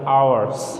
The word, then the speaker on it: hours: সেহেতু যেখানে এইচের উচ্চারণ স্বরে অ হয়ে যাবে ওখানে অ্যান বলবে। আবার খেয়াল করো, যেখানে পরেরটা আছে আওয়ার্স, আমাদের ইংরেজি প্রশ্নের উপরে লেখা থাকে টাইম 3